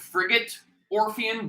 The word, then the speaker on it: Frigate Orpheon: big blue norfair i i realize it's called frigate orpheon but i'm still going to call it brigade um i always pronounce it for gate yeah but yeah um